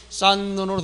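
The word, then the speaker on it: 쌓는: 니은으로 시작된 말에 오면 일단 히읗이 니은으로 난다고 했죠. 즉 히읗이 디귿으로 대표화 상태에서 뒤에 니은에 와서 디귿이 비음화돼서 최종적인 소리는 싼눈으로 된다는 것도 알고 있으면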